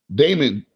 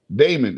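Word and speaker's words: daemon: screen watch hold up damon damon it says right there damon computing yeah the entire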